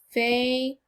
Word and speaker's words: favorite: Now, the last syllable sounds like it, right? Like IT. But what do you notice? ITE. Wow. Here's another troublesome part. Don't you agree? This syllable sounds like it, but it's actually spelled ITE. We know that a silent E at the end usually